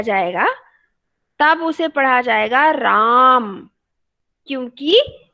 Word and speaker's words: राम: क्योंकि जो diacritical mark है ए के ऊपर, ये छोटा सा चिन्ह है, ये बता रहा है कि यहाँ पर ए दीर्घ है, अर्थात अस्वर का उच्चारण दीर्घ करना है हमको, राम।